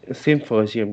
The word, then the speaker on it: symposium: So here a stress is on second word.